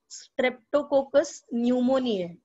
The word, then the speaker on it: Streptococcus pneumoniae: The most left extreme is Streptococcus pneumoniae. P is silent.